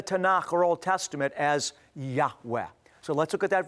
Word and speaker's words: Yahweh: He, Vav, He, which most ancient Hebrew scholars of the ancient Semitic language feel is pronounced a breathy Yahweh.